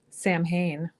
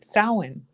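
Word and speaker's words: Samhain: And I was laughing this morning because you'll get slammed for saying Sam Hayne because it's pronounced sin.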